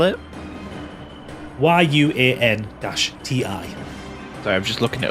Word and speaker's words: Yuan-ti: How do you pronounce it? Yeah, Yuan Ti.